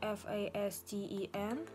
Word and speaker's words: fasten: Пишется оно F-A-S-T-E-N, но буква T не читается, получается просто fasten.